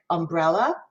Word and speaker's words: umbrella: three syllable word umbrella which syllable in that word do you think we stress do we stress umbrella do we stress umbrella or do we stress umbrella could somebody volunteer for me on that word umbrella the middle syllable the middle syllable right